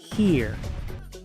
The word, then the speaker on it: here: Here. Por eso es que estas dos palabras se pronuncian igual.